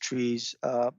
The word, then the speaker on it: TRIZ: So TRIZ, it's actually TRIZ, pronounced TRIZ, and it's an acronym.